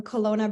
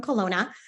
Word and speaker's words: Kelowna: uh my name is Ilona from Kelowna British Columbia up in Canada I know it Rhymes it's kind of silly Ilona from Kelowna that's how my stage